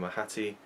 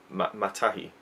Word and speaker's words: Matahi: We have a guy called what was his name, Mahati, no, Matahi, Matahi, and a girl, Reri.